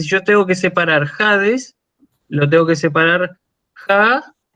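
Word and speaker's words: ᾍδης: Esa iota no se lee, es una iota que forma parte del diptongo impropio, ¿sí? Ah, Entonces yo lo leo Hades, con espíritu áspero, ¿sí? Pero no pronuncio la iota, porque es una iota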